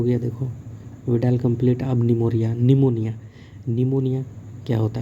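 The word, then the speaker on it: pneumonia: ठीक है, इसका पी, निमोनिया का पी जो है ना साइलेंट है, पढ़ते नहीं है, इसीलिए पी को उल्टा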